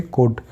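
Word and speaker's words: could: गया इसी तरीके से डी से पहले एल आएगा तो फिर साइलेंट हो जाएगा जैसे कोड इसी तरीके से साम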